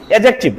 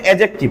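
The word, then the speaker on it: adjective: এখন থেকে সঠিক উচ্চারণ করমু ডি বাদ দিয়া এডজেক্টিভ কিতা উচ্চারণ করমু ডি উচ্চারণ হইতো না আমরা মনে রাখবো এটার সঠিক উচ্চারণ হবে এডজেক্টিভ কি উচ্চারণ হবে এডজেক্টিভ তারপরে আছে কি ভার্ব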